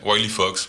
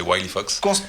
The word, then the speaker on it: Wileyfox: de suite passer à Willy Fox. C'est bien comme ça qu'on le prononce he ? Ouais Wy Fox. Willy Fox. W Fox. Ouais parce si on prend si on prend l'action anglais c'est Wifox.